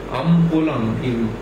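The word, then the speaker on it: Umpolung: This kind of change in polarity is called umpolum. It's called umpolum or umpolum. Sometimes it is pronounced as umpolum.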